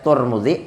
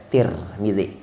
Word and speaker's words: Tirmidzi: meriwayatkan akan hadis ini oleh Imam Turmudzi atau Tirmidzi. Ada yang membaca Turmudzi, ada yang membaca Tirmidzi.